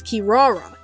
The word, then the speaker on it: Kirara: in the original Japanese translation the name is pronounced as Kirara and it's a translation of an onomatopoeic word